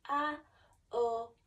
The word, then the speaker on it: Om: So you would take a deep breath in, and it's pronounced A-O-M.